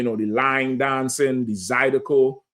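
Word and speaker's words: zydeco: They gonna have, you know, the line dancing, the Zidico. Zidico or Zidco. You said it right the first time I said Zidico.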